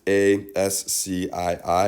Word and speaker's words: ASCII: without even really knowing it it's called it's a s c i i american standard code for information interchange but it's pronounced ascii when you when you use the